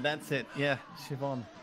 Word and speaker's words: Siobhan: Oh, Siobhan, that's it. Yeah, Siobhan. Siobhan. It's a good name. Why do they spell it like that, Kevin?